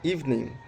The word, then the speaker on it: evening: evening uh many people many native speakers they pronunciate this word evening Evening evening, evening they are making uh three syllable in this word. So in this evening word we just make two syllable.